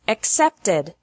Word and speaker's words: accepted: past of except is accepted except has two syllables and accepted has three syllables Edie is pronounced like